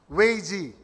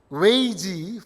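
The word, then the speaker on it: 危机: But this is a Chinese word, Weiji, for crisis. And it actually comprises of 2 syllables.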